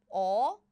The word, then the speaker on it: 얼음: So 얼음 is how we pronounce it.